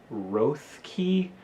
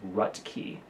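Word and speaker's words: Roethke: poet Theodore Rhett key his last name is spelled in a way that looks like Ruth key but the pronunciation is rut key just FYI anyway we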